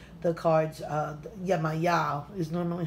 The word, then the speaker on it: Yemaya: this in this spread they call the cards Yemaya is normally how we pronounce it but she has various names so